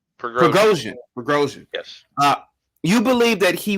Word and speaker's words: Prigozhin: How do you pronounce the guy's name? Prigozhin. Prigozhin.